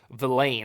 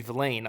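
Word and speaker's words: Vilain: and for you know luigi velain i've been pronouncing it wrong the whole time luigi villain on the edge the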